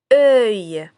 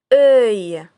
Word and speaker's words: œil: Œil. Œil. Alors si on décompose le mot œil, on aura deux syllabes caractéristiques. La première syllabe comme dans le mot heure et la deuxième comme dans le mot taille.